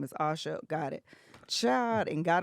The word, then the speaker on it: Asha: Can you please, well, before I do that, actually, Asha, have I been saying your name wrong this whole time?